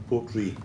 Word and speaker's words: Portree: It's pronounced R-U-I-G-H-E is Gaelic for Ree, and it's in respect of the capital of Isle of Skye, Portree the town. So it's actually named after that. And the original Gaelic way of spelling Portree the town was R-U-I-G-H-E. So that's what it is. It's pronounced Portree.